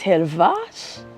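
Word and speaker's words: Hellwach: It's a German word. It's Helvash.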